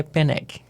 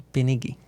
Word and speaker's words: Peneg: E pra mim ficou tudo ótimo, mas o original é Peneg. E como você prefere hoje em dia? Qualquer um dos dois tá ótimo. Então tá bom. Fique à vontade, porque Peneg é mais difícil de pronunciar do que Penegui, eu acho.